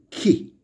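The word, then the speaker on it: chi: And the next is ki, written like X. It sounds like ki in the word chemical.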